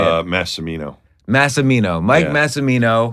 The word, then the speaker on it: Massimino: So I've got Mike Massimino on the podcast.